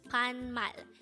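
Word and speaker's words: 반말: at the beginning of the video this is pronounced as panmal and if you notice the second syllable of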